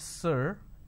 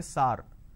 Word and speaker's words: sir: answer my question so instead of saying sir they say SAR so this is a pronunciation mistake now how do we identify it's a pronunciation mistake instead of a vowel sound ER they end up using a vowel sound ah another example the word